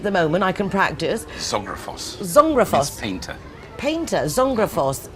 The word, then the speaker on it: Zographos: your surname is unpronounceable for me at the moment. I can practice. Zographos.